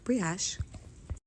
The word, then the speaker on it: brioche: I have eaten It's post-production brunch Kay over here, and I realized that the proper pronunciation is actually brioche.